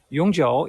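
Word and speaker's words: 永久: Uh, the brand name here is Yongjiu from Shanghai. Yongjiu is the pronunciation. It means forever. Back in 1970s and 80s, in the old days of Shanghai people's life, a bicycle in Yongjiu brand was one of the most essential items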